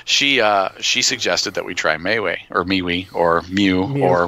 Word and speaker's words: MeWe: suggested that we try Mayway or MeWe or Mew or whatever you want to pronounce it. I say MeWe because it looks like me, we, me and we.